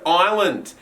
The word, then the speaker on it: island: for is the word island now this word can be tricky because it does have a silent s but you can say